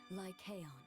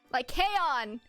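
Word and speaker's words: Lycaon: throne to his son like aeon like chaon that's how you say it Wilhelm continued to assist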